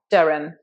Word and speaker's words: Durham: This is Durham, and this has a silent H. It's just Durham, Durham. No H there at all. Practice this along with me. Did you know Durham has an excellent university,